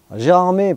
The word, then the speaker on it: Gérardmer: genre en étant une mère ou un lac gérardmer prononcé gérard mots à prêter à confusion au moment